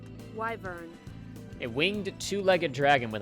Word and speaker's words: wyvern: what a word right wyvern wyvern says google why burn it winged two-legged dragon with a barbed tail why burn wyvern wyvern in my head